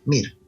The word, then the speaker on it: Mir: mir ya ves que este es un nombre muy fácil de de pronunciar y en todos los idiomas es igual mir eh mire Este es